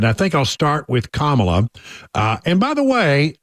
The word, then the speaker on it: Kamala: am I am convinced by someone that she pronounces it differently than that that's the correct way kamla all right so kamla got a phone call